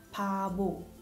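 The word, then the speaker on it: 바보: Piep invece suona come p all'inizio di parola e b al centro, tra vocali. Per esempio abbiamo mare, pada, pada, e la parola perfetta per spiegare la differenza di pronuncia, pabo, pabo, vuol dire sciocco, per prendere in giro qualcuno in modo però carino. Sentite, pabo.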